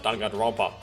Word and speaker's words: Danganronpa: Danganronpa, this is pretty accurate. This is pretty much accurately pronounced out Danganronpa.